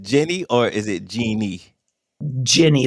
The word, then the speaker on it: Ginny: Jenny, or wait, am I saying it right? Or because it's been a while since we talked. Is it Jenny or is it Jeannie? Ginny, like gin.